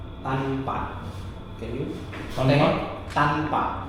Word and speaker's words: tanpa: Tanpa. Tanpa. Can you? Tanpa?